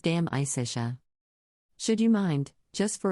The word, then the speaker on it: De Amicitia: We finished Livy and De Senectude and are now engaged with De Amicitia, pronounced Dam Isitia.